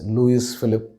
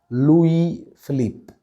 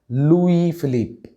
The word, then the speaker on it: Louis Philippe: is commonly mispronounced as luis philip but the right pronunciation is louis philippe the s at the end of louis is silent and the philip should be stretched it's philippe it's a